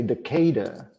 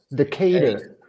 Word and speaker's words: Decatur: with a Southern accent you got to say Decatur Decatur maybe Decatur but the emphasis is on the